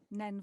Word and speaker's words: Nene: called Nen Valley or Neen Valley. Both is right. Either is right, both are wrong, depending on where you say them. Okay. So and it's spelt Nene. So it can be Neen or Nen.